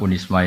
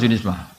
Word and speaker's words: Unisma: Jadi saya mohon karena unisma ini kan biasanya bacanya unisma apa Zunisma? Unisma. Ya sudah berarti sudah Indonesia banget. Saya tu masih menangi orang baca Zunisma Zuii.